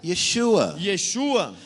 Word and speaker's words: Yeshua: But when you say his name in Hebrew, Mas quando você fala o nome dele em hebraico, Yeshua, Yeshua means salvation.